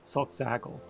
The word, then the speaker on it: Solxagil: Well, usually when there's a bunch of consonants in a row, it means that there's a break in the syllables there. So I'm pretty sure the way that that's said is Solxagil. Okay, zag, like zigzag.